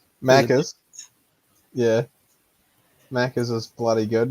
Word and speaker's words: Maccas: I've noticed with Australia and New Zealand as far as like some of the shortened phrases like Mackers. Am I pronouncing that right? Maccas.